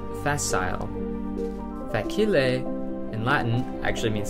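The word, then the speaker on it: facile: word that's spelled exactly the same except it's pronounced fasile fail in Latin actually means the same thing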